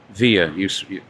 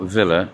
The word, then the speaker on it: Villa: Via. When there's two L's, you pronounce it as a Y. So it's not Villa, it's Via.